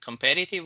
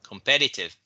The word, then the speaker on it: competitive: Because you know the stress is on the second syllable, not on the last one.